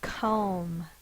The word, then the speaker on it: comb: M and a silent B. Now we've been talking about closed syllables, a single vowel followed by one or more consonants. It's a closed syllable. But listen to this. Comb. That's its long sound.